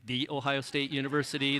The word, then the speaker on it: The Ohio State University: the ohio state university i'm told it must be pronounced the ohio state university there's some issue there